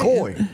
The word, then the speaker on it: koi: like at the Japanese restaurant just floating around koi is it koi that's how you pronounce it yeah flat head minners them little